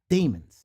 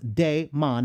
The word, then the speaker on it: daemon: A daemon usually pronounced daemon, not demon, daemon, but sometimes pronounced as it's a rhyme with diamond, because they don't want it to be demon.